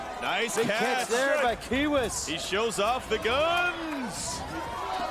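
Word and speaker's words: Quihuis: It's the Ghoul Kingman and and Kiewis. Hitmen and Kiewis. The Q and the K. Kiewis, interestingly enough, is spelled Q-U-I-H-U-I-S.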